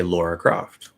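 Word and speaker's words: Lara Croft: lot of people say laura croft so if i actually see the spelling i wouldn't pronounce it laura but because a lot of people pronounce it that way and because lara is like that's not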